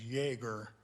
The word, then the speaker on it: Jaeger: The correct pronunciation is Jaeger, like Jägermeister, only I had it first.